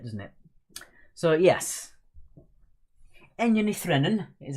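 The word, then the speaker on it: Ní Bhraonáin: But obviously, if you read it how you're supposed to say it in Gaelic, it is Enya Nithrenon, which gives it away a little bit, doesn't it? So, yes. Enya Nithrenon is how you pronounce that in Irish Gaelic.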